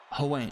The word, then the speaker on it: Huang: English to Chinese, pronounced like Huang.